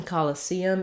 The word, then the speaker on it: Coliseum: excuse me um the the stress in Coliseum is on the C syllable um so these letter O's both say unstressed schah sounds like we were just talking about call and then we have for the letter E the stressed tense e sound and then our letter U goes back to an unstressed schah so it sounds like call actually it's not colisium